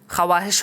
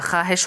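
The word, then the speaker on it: ख़्वाहिश: यह ख्वाहिश नहीं है, यह ख्वाहिश है; लिखित रूप में उच्चारण स्पष्ट होना चाहिए।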